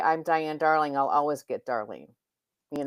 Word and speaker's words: Diane Darling: I rarely say hi, I'm Diane Darling. I say I'm your speaker today with a pause. My name is Diane with a pause. Darling, if I don't put the pause in there, I get Darlene.